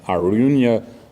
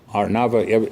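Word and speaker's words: Araunah: There's actually a debate how to pronounce that name, Arunya or Arnava. You know which one is the correct way? Arnava.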